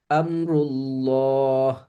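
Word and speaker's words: نار الله: নারুল্লাহ নারুল্লাহ নারুল্লাহ আল্লাহর আগুন নার আগুন নারুল্লাহ আগুন আমরুল্লাহ আমরুল্লাহ আল্লাহর আদেশ ইউরিদুল্লাহ ইউরিদুল্লাহ এই যে আল্লাহ শব্দের লামের পূর্বে আমরা পেশ পেয়েছি।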